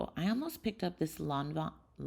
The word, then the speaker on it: Lanvin: I almost picked up this Lanvin. I used to say Lanvin, and a couple of my French friends made fun of me. I'm pretty sure it's pronounced Lanvin. So sad.